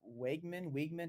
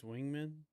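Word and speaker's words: Weigman: see how good Connor is it Wegman? How do you pronounce his I last think name? it's Wingman.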